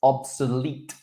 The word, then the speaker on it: obsolete: It's obsolete, obsolete.